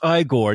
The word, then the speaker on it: Igor: know and then Frank goes you must be eigor no it's pronounced igore now he switches it but